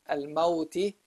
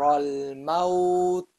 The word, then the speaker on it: الموت: So here, if I stopped on al-mauti, it should end with حذر الموت. Silent letter. It's no longer pronounced with the kasra, but with the silent, with the sukun.